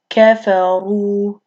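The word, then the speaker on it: كفروا: So that makes the Ra heavy, and then it's pronounced kafaru.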